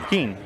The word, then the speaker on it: Keen: His name is pronounced Keen. Keen.